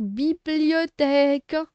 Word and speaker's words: bibliothèque: Bi, blio, té, que. Faites attention ici. Quand la première lettre I, ça se prononce bi. Mais la deuxième, c'est le son yo. D'accord? Yo. D'accord? Il y a I et O, ça se prononce yo.